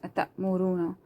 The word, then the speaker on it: أتأمرون: أتأمروا, ru, you have to stretch this. أتأمرون, not أتأمرون الناس. أتأمرون الناس, because this is waw madda. Waw is silent, before that there is madda, so you have to stretch it.